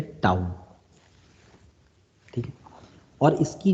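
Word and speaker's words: τ: एक चीज याद रखें इसका जो सिंबल होता ना व ऐसा होता है यह यह प्रोनाउंस किया जाता है टाउन ठीक और इसकी जो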